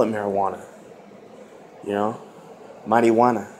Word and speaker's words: marijuana: it marijuana you know mighty wanna that's what it is that that's how you pronounce it you know it's a